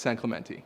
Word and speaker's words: San Clemente: yeah I just wanted to know how the locals say no it's San Clemente yeah okay cool so talk to me about